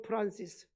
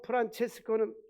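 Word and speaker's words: Francesco: 성 프란시스. 성 프란시스는 영어 발음이고 성 프란체스코는 이태리 발음입니다.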